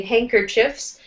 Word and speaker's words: handkerchiefs: So it's kind of like the D is silent in handkerchiefs.